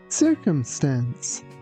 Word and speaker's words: circumstance: Be careful with the pronunciation of letter C here because the first letter C is pronounced like S and the second one is pronounced like C and the last one is again pronounced like S.